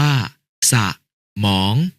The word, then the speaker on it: สมอง: สนุก อ่าน ว่า สะนุก สมอง อ่าน ว่า สะมอง ขยาย อ่าน ว่า ขยาย